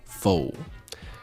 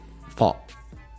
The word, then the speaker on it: pho: So, fo, as we lovingly call it in English speaking Canada, is a Vietnamese soup, noodle soup dish.